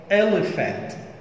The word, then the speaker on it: elephant: أول كلمة elephant elephant elephant elephant elephant اللي هو الفيل elephant، طبعا ال P وال H هنا بتنطق F elephant.